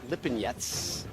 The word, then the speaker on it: Lipinets: Lamont Peterson takes on former 140-pound champion Sergey Lipinets in a headlining 12-round welterweight showdown. Lamont Peterson. Spelling his name wrong.